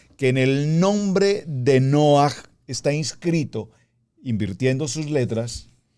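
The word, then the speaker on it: נֹחַ: Por ejemplo, en el punto que estamos leyendo del verso 8 dice, pero Noaj, pronunciémoslo en hebreo, Noaj, halló gracia.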